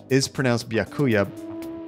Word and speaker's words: Byakuya: And Byakuya is pronounced Byakuya, not however you pronounced it. I swore it wasn't pronounced the way you did.